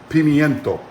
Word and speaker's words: pimiento: roasted red bell pepper pimiento pinto is the spanish word for um bell pepper all right and it's spelled with an i in spanish but most uh english speakers will talk about feminine cheese leave the eye out in the title of